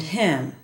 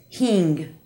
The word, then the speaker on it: him: I can think of listen to Carlos pronouncing the word him he says it as king has Mike been here